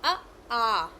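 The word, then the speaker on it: आ: The second one is the a. So a. Okay. Example that we say father. Fa is the long, right? Father.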